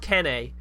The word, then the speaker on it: Kene: It's pronounced Kene, like Kenny.